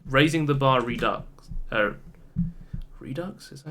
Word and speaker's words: Redux: Redux? Is that how you pronounce that word? Yeah, it's Redux.